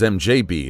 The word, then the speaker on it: MDZHB: MDZHB, mostly pronounced as MJB, is a mysterious radio